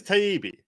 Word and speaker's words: Taibbi: It is Taibbi.